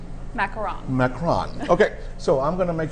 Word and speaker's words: macaron: These are French macaroons, but we would call them in Texas, but they are pronounced macaron.